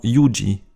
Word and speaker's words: juĝi: Attention à la prononciation de C et J, respectivement TS, comme dans TSERBO, cerveau, et Y, comme dans YUJI, jugé.